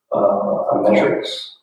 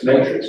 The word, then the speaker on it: matrix: As on this topic, another thing we discussed today was a metrics system, right? For pay. Am I saying it right? Matrix, not metrics, matrix system.